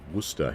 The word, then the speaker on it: Worcester: It's pronounced Worcester here in UK.